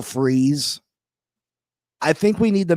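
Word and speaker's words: Fries: big names will freeze I was saying Fri that's how it looks like it's pronounced will freeze I think we need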